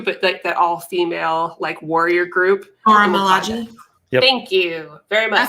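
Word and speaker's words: Milaje: But they're part of and I always pronounce this wrong too, but that all-female warrior group. Malaji.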